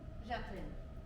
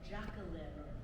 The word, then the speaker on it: Jacqueline: what is your name Jacqueline ah you say it the French way and I wish others would too they all pronounce it jack-o-liver or Jacqueline correct them but they